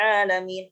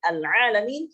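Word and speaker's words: العالمين: Adapun lahnul jadi, yaitu adalah ketika kita membaca Alhamdulillahi Rabbil Alamin. Al-Alamin kita membacanya sebagai ain di situ dirubah menjadi hamzah. Al-Alamin akan merubah makna, dan ini akan merusak makna.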